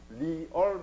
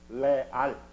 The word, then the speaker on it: Real: 여러분들 REAL을 리얼 마드리드 이렇게 안 하잖아요. 뭐라고 읽어? 레알.